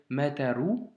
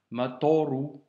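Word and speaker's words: مطر: Ne pas lire mataru, mais bien matoru.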